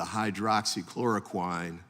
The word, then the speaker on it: hydroxychloroquine: an example of the hydroxychloroquine hope I pronounced that correctly close as one of those examples tell me the right pronunciation hydroxy chloroquin but you're very close thank you and that